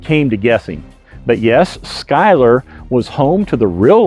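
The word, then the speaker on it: Schuyler: to the town of Skyler. Yes, it's another one of those Virginia names that we pronounce differently from how it's spelled.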